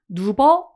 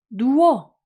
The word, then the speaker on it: 누워: 어 이건 어떻게 하지 우리 루버 이렇게 발음 하나요 어떻게 발음하지 누워 이렇게 발음이 되죠 그러면 월을 한번 분석을